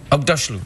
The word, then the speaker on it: Aghdashloo: You're familiar with Ugg boots? Ugg boots, yes. Say Aghdashloo. Aghdashloo.